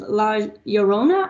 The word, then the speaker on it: La Llorona: Well, this time we're going to do a little bit of La Llorona, I think is how you say that correctly.